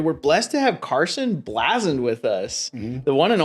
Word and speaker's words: Bleazard: blessed to have Carson blasen with us the one and only and I said his last name right it's it's said different than it's spelled actually he's rocking the